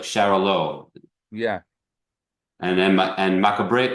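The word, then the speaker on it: Xarel·lo: know how to pronounce the Spanish x a r e l low like Shalo yeah and then and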